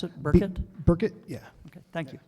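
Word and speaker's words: Burkitt: k IE TT I'm sorry how did you pronounce it burket burket yeah okay thank you you're welcome do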